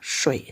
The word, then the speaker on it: 水: Oke, nah ini ada shui, 3点水, bacanya shui, shui artinya air.